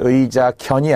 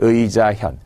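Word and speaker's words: 義自見: 여기서는 현이라고 읽었죠. 도금 문제로도 잘 나오는 독서백편 의자 견이 아니라 독서백편 의자 현.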